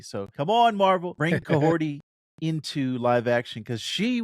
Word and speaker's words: Kahhori: Kahhori, is that how you say it? Yes. Your pronunciation was dope.